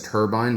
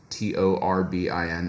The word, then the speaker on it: Torbin: But I think Torbin, I mean, I read it as turbine. This is why I keep mispronouncing it. It's not Turbine, it's Torbin.